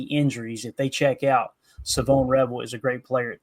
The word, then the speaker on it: Shavon Revel: We got to get used to saying that, right? Savone Rebel is how you say his name.